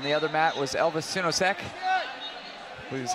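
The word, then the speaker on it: Sinosic: It's a little unconventional, not so unconventional, but while that match was going on the other mat was Elvis Sinosek, which is how you say his name.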